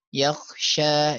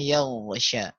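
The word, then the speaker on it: يغشى: Mengganti ghain dengan kha ya, karena sama hurufnya, makhrajnya ya. Yakhsha, yakhsha, harusnya yaghsha.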